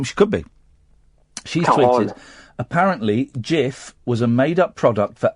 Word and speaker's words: Cif: F it's actually pronounced JF the C is pronounced as a j okay but but the